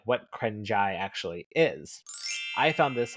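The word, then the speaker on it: เกรงใจ: And Sheldon says the last piece is actually called the krengjai in Thai Krengjai. culture. How do you pronounce it?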